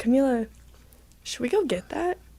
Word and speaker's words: Kamila: And just so you know, too, my name is pronounced Kamila. Kamila. Yes. Yeah. Not Camilla. No. Not Camellia. Not Camilla. Not Camilla. Not Kamala.